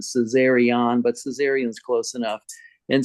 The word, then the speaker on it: Caesarion: It's actually Caesarion, ION at the end, Caesarion, but Caesarion's close enough.